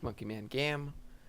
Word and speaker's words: Monkey Man Gam: My channel name is Monkey Man Gam because it cut off the E. Don't worry about that. My Twitter. Okay, the E is silent.